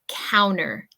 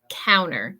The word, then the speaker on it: counter: my pronunciation from Michigan with my pronunciation from Michigan I usually don't pronounce the T so I usually say counter counter can you clean off